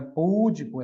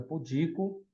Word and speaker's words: pudico: Não é púdico, é pudico. Não é rúbrica, rubrica.